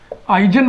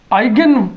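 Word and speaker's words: eigen: Hermitian matrix की दूसरी property characteristic roots characteristic roots that is आइजन values आइगन उच्चारण भी आप कर सकते हैं। आइगन वैल्यूस या आइजन वैल्यूस।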